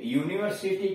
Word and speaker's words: university: तो यूनिवर्सिटी का उच्चारण यो से हो रहा है ए यूनिवर्सिटी एंड नहीं ए यूनिवर्सिटी degree is no guarantee for India.